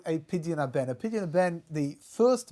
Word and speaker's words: Pidyon Haben: A natural-born, firstborn boy, then you need to go through something called a pidyon haben.